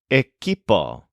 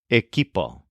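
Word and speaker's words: equipo: refers to a group of people the word eipo which means team this is spelled eqi p o eipo here's an example the team didn't manage to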